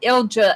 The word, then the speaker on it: Ilja: I think I pronounced it once, and she said Ilja, and that was correct.